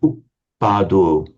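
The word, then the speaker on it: uppādo: Buddhanang uppado. So here, oops, what have I done? Uppado. Heavy, heavy, heavy. The first syllable is heavy because although the vowel itself is short, it's followed by a doubled consonant.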